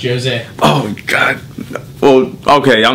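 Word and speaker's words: José: Actually, it's pronounced Jose.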